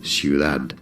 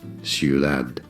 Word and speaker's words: Ciudad: How do you say city? Like an actual D. Ciudad. Ciudad.